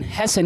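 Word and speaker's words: hasten: एस टी आई एन इसमें भी लास्ट में 10 आया की नहीं आया अब ये लास्ट में 10 आने की वजह से ये टी क्या हो गया साइलेंट तो बचा क्या हाल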